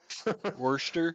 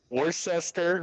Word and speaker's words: Worcester: And as a side note, before we get thoroughly into this, that spelling and that pronunciation always messes me up. Worcester. Was yeah, Worcester, Worcester.